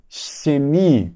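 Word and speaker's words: Chemie: dessa maneira por exemplo eu tenho a palavra química né então é xemi perceba que eu coloquei o dente aqui atrás dos dentes perceba que eu coloquei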